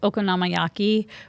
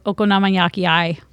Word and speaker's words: okonomiyaki: So, in the Osakan accent, if the anime that I'm referring to was pronouncing it the way that they do in Osaka, they pronounce it okonomiyaki. Okonomiyaki. Yeah, instead of okonomiyaki.